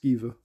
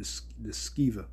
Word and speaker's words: Sceva: And there were seven sons of one Sceva, or Sceva, I believe it's pronounced Sceva, a Jew, and chief of the priests, which did so.